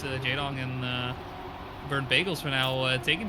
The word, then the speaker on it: jdon: jdon, to me, reminds me of the Korean StarCraft 1 pro player Jaedong, which is Jaedong. Same pronunciation, different spelling.